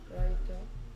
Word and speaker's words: write: Writer 뭐라고? Write 큰 소리로? Write Right. Write Write W가 소리 나지 않고 I T.